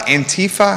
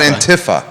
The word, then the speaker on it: Antifa: Antifa? How do you say it? Do you know? I call it Antifa. It's Antifa. Antifa? Okay. Because it's anti-fascist.